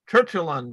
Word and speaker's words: Tertullian: Luigi well I'm gonna find out his it's t-e-r-t-u-l-l-i-a-n tertullian sir Julian thank you you're so much better at pronouncing things than I am Jairo maybe it